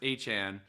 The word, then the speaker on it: Etienne: He was like, just so you guys know, my last name is pronounced Achane.